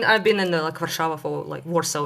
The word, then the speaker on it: Warsaw: I mean, I've been in Warsaw for Warsaw is how you say in English.